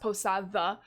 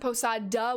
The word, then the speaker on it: Posada: between a two vowels instead of a hard d sound it sounds like a th sound is in the word the um and it's correctly pronounced posadva if you pronounce it posada with the hard d